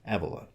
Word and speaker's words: Evola: looking at Nietzsche and Julius Evola, which is apparently pronounced Evola.